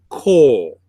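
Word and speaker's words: כֹּל: But there's a dot above the Kaf, that's called a cholam, and that represents the O sound. So it's pronounced kol, and that means all.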